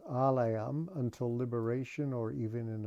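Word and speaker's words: ālaya: And then it says, alayam, until liberation or even in a liberated condition. The word alaya in Sanskrit with a long A just means a house or dwelling or receptacle.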